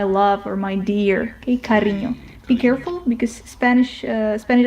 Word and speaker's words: cariño: And if we move on we have enye which is pronounced like the combination of n n and y in the word canyon, for example. Let me show you a Spanish word for that. Let's say cariño.